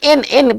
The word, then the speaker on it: and: देखिए, हम इसको एंड नहीं पढ़ेंगे, जब संख्या के बीच में इसको पढ़ेंगे तो इसका उच्चारण एन पढ़ेंगे, एंड नहीं पढ़ेंगे, एन पढ़ेंगे।